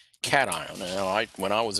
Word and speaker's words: cation: ion becomes positive and we call that a cat ion cat ion and I when I was in your position I mispronounced it I call it a but it's pronounced cat ion an anion okay and an example of an